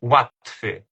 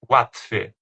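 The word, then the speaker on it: łatwo: Então, por exemplo, essa palavra aqui que significa fácil é a gente lê watf watf lá no início, aquele l cortado, tem esse tomão de um certo u parecido com u.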